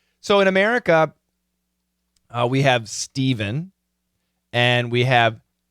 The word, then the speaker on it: Stephen: So even though the PH is an F sound for the name Stephen, guys who spell it with a PH, it's a V sound, so it does change.